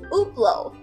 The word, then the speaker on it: Hublot: 其实就是像 Uber 一样哦，它的发音是 Hublot。